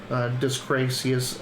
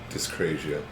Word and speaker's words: dyscrasia: So with 1, you get 1 to 3 vessels with random resonance and no disgracious.